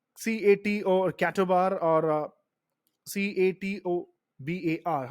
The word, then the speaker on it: CATOBAR: you mean by cat or cattle bar or c-a-t-o-b-a-r how do you pronounce this catobar and what do you mean